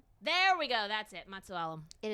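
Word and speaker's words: Matusalem: Matsualam.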